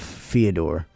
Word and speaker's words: Fyodor: I'm just going to say it like Theodore, but with an F. Fyodor.